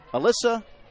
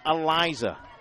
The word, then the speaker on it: Alyssa: think that would be Alysa or Alisa and I learned in a Florida tournament last year the girl said no it's pronounced Eliza but there's no Z's in there come on Wesley Glover